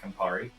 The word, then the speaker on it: Campari: It's called the Safari Sunrise because Safari rhymes with Campari.